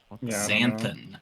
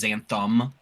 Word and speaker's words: xanthan: Zanthan. Everybody Everybody mispronounced it and says Zantham because it makes it makes sense to rhyme as Xantham gum.